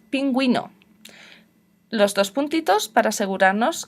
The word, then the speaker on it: pingüino: pero tengo otra opción la uv con puntitos se llama diéresis que significan estos puntitos que si tengo que pronunciarla o no son muchas palabras en español pero hay algunas pronunciamos paragüero antigüedad pingüino los dos puntitos para